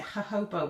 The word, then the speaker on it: jojoba: At the moment, I tend to use lavender and I think you pronounce it jojoba oil. It's spelled J-O-J-O-B-A.